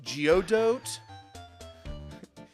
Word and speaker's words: Godot: It's pronounced Geodot.